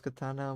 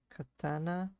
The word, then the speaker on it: katana: But other than that, you pronounce the tan like the color tan, katana.